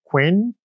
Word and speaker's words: 괜찮아요: here in quino becomes silent so I should pronounce it quen exactly qu is a vertile phrase here are